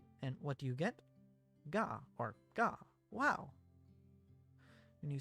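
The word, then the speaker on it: が: You pronounce this as Ga.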